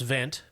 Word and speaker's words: Wendt: abner event then it's that's a german v yeah it's a w yeah well it's spelled with a w but right pronounced vent uh i'm i am